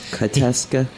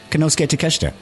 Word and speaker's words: Konosuke Takeshita: Kateska? Come on. Konosuke Takeshita. You said it wrong.